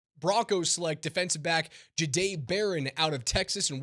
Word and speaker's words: Jahdae: And that's the way it's pronounced, correct? It's Jade.